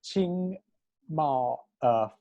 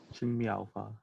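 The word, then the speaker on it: 青苗法: And he created this thing called the Green Sprouts Act, the Qing Mao Fa, Qing Mao Fa.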